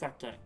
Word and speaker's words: sake: not it's not sucky it's sucky which actually comes from the japanese word osaka